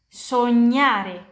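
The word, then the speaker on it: sognare: Dan kalian lihat GN harus diucapkan begini. N ny N konyome konyome nama belakang sonyyar sonyare bermimpi harus diucapkan kayak nyam.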